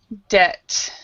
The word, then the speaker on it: debt: b and a t so this this B is silent so plumber debt and and debt of